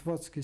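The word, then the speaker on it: Otwock: and we now settled in at what's what what's key spelled ot wo CK but the C's pronounced always as at eg in Polish what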